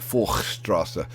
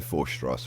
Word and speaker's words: Forchstrasse: It should be like Forchstrasse, but I can't do that. So I'm going to be saying Forchstrasse, and you'll just have to live with it.